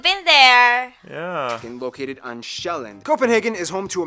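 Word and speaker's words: Sjælland: inhabited the largest island being shelland not zealand which is not to be confused with dutch zeiland which is not to be confused with new zealand although they did get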